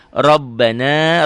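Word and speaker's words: رَبَّنَا: Rabbana, ro-nya tebel, ba-nya double, na, matobi la, matobi tu'a.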